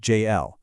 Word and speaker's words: Jafel: In that brief moment of hesitation, Ariella actually feels the protective warmth of Jafel, pronounced JL, pressed right beneath her sternum.